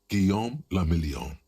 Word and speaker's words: Guillaume le Million: Guillaume le Million. Guillaume le Million. If it doesn't rhyme, you're not pronouncing it right.